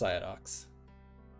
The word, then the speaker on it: Ciadox: So if you don't know, it's pronounced Psyodox.